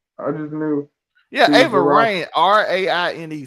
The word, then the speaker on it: Raine: Yeah, Ava Raine, Raine. So it's like rain, but rain.